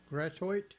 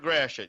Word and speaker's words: Gratiot: hard word to pronounce you know what we've butchered it over the years because that's a french word and gratitude is not how it was pronounced there's a lot